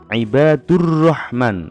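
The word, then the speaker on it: عباد الرحمن: Bagaimana cara membacanya yaitu bunyi huruf alif lam hilang dan melebur ke dalam huruf berikutnya jadi membacanya ibadurrohman langsung ke huruf ro berikutnya Ada sebuah cerita ini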